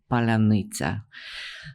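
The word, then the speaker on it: паляниця: So Ukrainians developed this password, which was known to everybody, but only those who are on their side could pronounce. And you'll know it's Palanitsa. For whatever reason, Russians cannot pronounce it.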